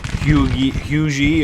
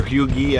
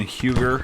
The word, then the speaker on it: Huger: looks like he's sending huge e or hughie i think is how that's pronounced rather than huger which is what it looks like but he's completely re